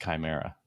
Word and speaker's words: Chimera: I didn't want to say anything, but it is pronounced Chimera. Oh, it's Chimera.